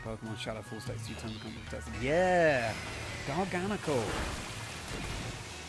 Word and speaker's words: Garganacl: Yeah, garganacle. I think I prefer pronouncing like that to Garganle, but Gar. But then the knackle, the emphasis is on the NaCCl, the salt chemical formula.